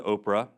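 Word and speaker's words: Ophrah: down the road to Oprah I'm not kidding he says Oprah there it doesn't spell it the same way but it says Oprah it's Atlantis you all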